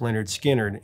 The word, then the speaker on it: Lynyrd Skynyrd: 17 would make it onto their official debut pronounced Leonard skinnard in 73 uh those songs included give me